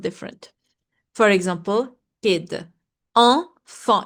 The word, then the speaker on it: enfant: It's not a, it's not e, it's not it's en. It's a nasal sound. Like when you say it, your nose vibrates. En. Enfant. You see, the T is silent.